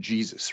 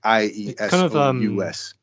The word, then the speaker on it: Jesus: The name Jesus is an anglicized version of the original name, which is, I'll pronounce it Jesus. That's pretty much how you pronounce it. Jesus, or there's different, there's however, it kind of sounds more like in Spanish, Jesus, right? Because it wasn't Jesus, it's more like IESOUS.